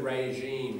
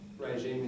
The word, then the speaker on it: regime: It's like sh, but it's voiced.